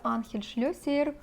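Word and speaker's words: Ángel Schlesser: мускуси наступний аромат називається анхель-шльосієр fome і це іспанський бренд Я знайшла саме таку вимову цього бренду анхель-шльосієр і буду називати цей бренд Саме так бо вважає що це правильно тут написано вам жінка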